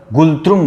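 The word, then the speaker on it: ngultrum: अफगानिस्तान का अफगानी, बांग्लादेश का टका, भूटान का गुलत्रुम बोलते हैं इसको, गुलत्रुम बोलते हैं, गुलत्रुम, इसको कहते हैं गुलत्रम या गुलत्रुम, जो भी बोलो आप, एन साइलेंट रहता है।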